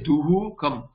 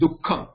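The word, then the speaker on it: duḥkham: So you say, you don't say duhu kam. The duhu kam is not the pronunciation, it is dukkham. So dukkham, this dukkham, the visarga, you see how it is pronounced, it is like half, it is cut down into half, dukkham.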